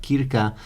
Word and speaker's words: Krka: National Park Kirika and maybe I pronounced it in the wrong way but I believe it's pronounced like Kirika and F beautiful waterfalls